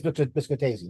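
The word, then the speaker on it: Biscotasing: It's either Biscotacine or Biscotacine. Biscotacine or Biscotacine. Your choice. Biscotazing. Sorry, what was that? Biscotazing. It is Biscotazine.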